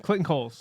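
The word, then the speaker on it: Clayton Cowles: How do we pronounce it? Clayton Coles.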